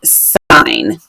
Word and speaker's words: sine: if you see this you're gonna say that sign and of course that's not how spine is often spelled but this is how sine is spelled for trig and this is how